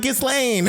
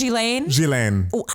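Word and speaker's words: Ghislaine: no we don't like gizlane is that how you say it okay here's the thing it's i guess jillaine it's jizz lane we don't owe her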